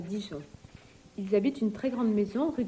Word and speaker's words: ils habitent: In that case, the S of the il, I-L-S, gets carried over and pronounced. Il habite, He lives, ils habitent. they live. Il habite, ils habitent.